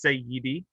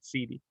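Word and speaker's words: سيدي: where it comes from it's say yidi but they've just made it easier to pronounce by saying cd no i am a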